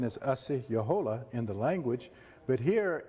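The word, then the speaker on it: Asi-yahola: or osceola sometimes it's pronounced but the real pronunciation is asi yohola in the language but here is a representation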